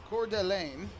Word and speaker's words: Coeur d'Alene: in Idaho a town that I will probably mispronounced but it's Coeur d'Alene in Idaho that is French Paul Fletcher the